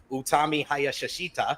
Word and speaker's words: Utami Hayashishita: Utami Hayashishita, excuse me, I got to say it correctly